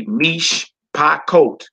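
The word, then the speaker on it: מִשְׁפָּחוֹת: You know, you got one syllable with mish, mem and shin, then you got another syllable with pa, then you got another syllable with coat. That's a 3-syllable word.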